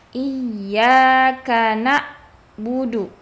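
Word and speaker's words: إِيَّاكَ نَعْبُدُ: Jangan dibaca iyaka na'budu. Ya, jadi berganti huruf ainnya ke huruf hamzah. Harus jelas bedanya antara huruf hamzah dengan huruf ain.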